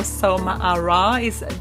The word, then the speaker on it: Soma Arah: Okay, so welcome to my show, Soma Arah. Do I pronounce that the right way?